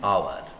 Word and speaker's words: hour: sound or o in bengali or o an hour it's not about an hour an hotel it's